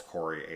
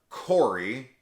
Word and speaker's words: Corey: You've got Corey, which rhymes with Lori.